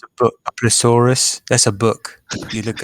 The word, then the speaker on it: plesiosaur: Is it a plesiosaur or is it a plesiosaurus? Because I was calling it plesiosaurus the whole time. It's a Now, plesiosaur.